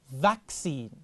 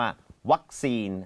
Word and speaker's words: vaccine: ว่า vaccine vaccine vaccine สังเกต การ ออก เสียง ตัว เด็ก แวน เข้า มา ใน ลำ คอ นะ ครับ แล้ว ถ้า สมมุติ มา ออก เสียง ว่า วัคซีน อัน นี้ เข้า ใจ มย อื อาจ จะ ไม่ เข้า ใจ เท่า ไหร่ นะ ครับ ต้อง เป็น ดู V นะ ครับ แซซี ฮ แซน หรือ